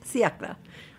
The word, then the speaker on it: siècle: But siècle, you can actually pronounce all the letters, which is rare in French.